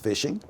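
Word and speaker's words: phishing: so what is fishing fishing pronounced fishing with a pH the fraudulent practice of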